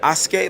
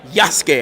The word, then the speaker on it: Yasuke: Is it Asuke? Like what's the main character's name again? Yasuke.